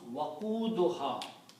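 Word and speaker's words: وقودها: So when you combine these, it will be pronounced waquduha.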